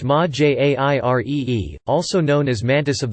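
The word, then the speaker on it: Majere: Mahire, pronounced Ma-Jairee, also known as Mantis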